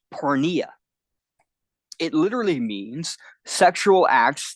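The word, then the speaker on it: porneia: those translations in the Greek that word is pronounced Poria it literally means sexual acts that are morally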